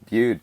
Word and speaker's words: Bude: Is that how you say it? Bude? Yeah, you got it. Bude, perfect.